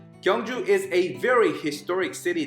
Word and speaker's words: Gyeongju: we dive into this safety tour okay so kungu world you pronounce it kangju kangju is a very historic city that has been